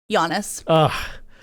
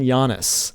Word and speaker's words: Giannis: So you're going Jokic and Giannis. Yep. The soft J and the soft G.